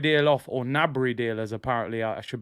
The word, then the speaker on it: Gnabry: Is the Gnabry deal off, or Gnabry deal, as apparently I should be pronouncing it?